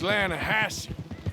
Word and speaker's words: Lanahatchee: The other day, I rode down to the Lanahatchee River. I caught some beautiful steelhead trout. You mean the Lanahassee River? No. The Lanahatchee. It runs right near here. Yeah, but it's pronounced Lanahassee.